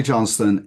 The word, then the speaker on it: Johnstone: can use it so Johnston am I pronouncing your last name correctly yes Johnston you are senior manager and lead of Market